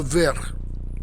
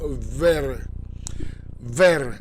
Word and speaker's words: verre: Il préfère boire dans la tasse plutôt que dans le verre. Verre means glass, like a glass, the actual utensil. But it also means green and also means warm. You pronounce it the same.